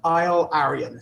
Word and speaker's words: AilArian: And James, I'm not quite sure how to pronounce the name of the company. Maybe you can tell me. Yeah. AilArian? So AilArian.